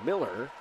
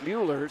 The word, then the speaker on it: Mueller: So we had a fan yesterday who said it's Miller, but in the pronunciation guide, and then I talked to Jeff Crenshaw, who is the recruiting coordinator. He said it's Mueller, so that's why I'm going with that.